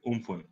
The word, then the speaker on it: Amphan: And the topic for today is tackling a crisis, which is Amphan. Or as they genuinely pronounce it, Umphan, which is what I just read up on Google.